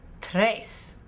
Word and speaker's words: tres: one more time dos the number three is pronounced tres in spanish tres the number four is